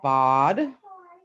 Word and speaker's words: bad: Then we also we drew our bod. Looks like bad, but it's bod.